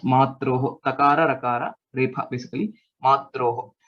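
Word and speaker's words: मात्रोः: These two were not pronounced correctly. So please make a note of it. It's just Matroho.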